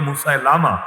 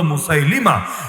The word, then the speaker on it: মুসাইলিমা: ভন্ডের নাম ছিল মুসাইলিমা বাংলাদেশের লোকে বলে অনেকে মুসালামা ভুল উচ্চারণ সহী উচ্চারণ হল মুসাইলিমা এই মুসাইলিমা নিজেকে নবী